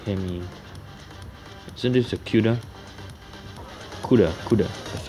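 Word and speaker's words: 'Cuda: CUDA. That's how it pronounced.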